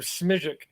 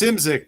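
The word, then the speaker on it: Szymczyk: You never know how you pronounce their names. I always called him Smijic. Simzik, yeah. I think it's Simzik, but that's like one of those Slavic names where all the consonants are sort of quiet.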